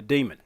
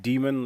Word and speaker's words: daemon: we can add a daemon. I've heard it pronounced demon, as in like demon. And I've heard some people say daemon, but I think it's supposed to be pronounced demon.